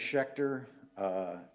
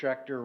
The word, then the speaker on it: Schechter: it's been a pleasure name is Schecter if you're of German heritage it's an easy name a lot of patients butcher it so I usually say I'm dr. Schecter rhymes with Hector the problem is they